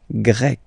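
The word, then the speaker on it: grecque: get grec, masculine form, grec, feminine form. You write them differently, but then if you listen carefully, grec, grec, you pronounce them the same way.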